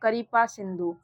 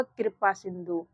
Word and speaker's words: कृपा सिंधु: इसको हम लोग करिपा सिंधु नहीं पढ़ेंगे। इसका उच्चारण क्या होगा? कृपा सिंधु।